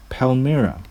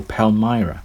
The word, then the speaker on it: Palmyra: an inscription from the environs of Palmyra, or Palmyra, depending on your preference for the semantical pronunciation.